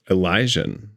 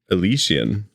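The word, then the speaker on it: Elysian: Elijah. Have I been mispronouncing that the whole time? Elician.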